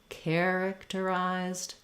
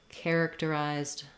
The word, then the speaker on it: characterized: speeding up for example characterized characterized characterized um and just notice how I want to even when I said it slowly I stretched the care characterized so that you can